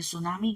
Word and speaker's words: tsunami: सुनामी में ना, ये सुनामी कहते हैं। आगे जो सुनामी का टी, टी जो है ना वर्ड, वो टी साइलेंट है, हम सिर्फ सुनामी कहते हैं इसे।